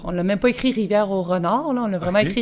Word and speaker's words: Rivière-au-Renard: elle est où la rivière Nord? Ils entendent Rivière-Nord, mais c'est Rivière-au-Renard. Fait que sur notre rousse, on l'a écrit comme les gens la prononcent, Rivière-Nord.